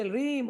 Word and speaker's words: ह्रीं: ओम ह्रीं, कृपया 'ह्रीं' का सही उच्चारण करने का प्रयास करें।